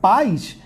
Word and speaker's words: pais: A palavra pais é um monossílabo, tá? Só tem uma sílaba. É um monossílabo. E a palavra país é um dissílabo. Tem duas sílabas, tanto que eu tenho uma letra, né, uma vogal em cada.